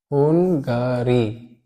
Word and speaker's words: Hungary: आपने एक यूरोप में कंट्री है हंगरी के नाम से, हुंगारी, HUNGARY, हुंगारी, which is a country. हुंगारी इसको प्रोनाउंस किया जाता है, हुंगारी.